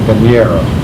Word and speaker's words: Bañera: We bought Columbia 29 called Bañera. That means bathtub. How do you spell that?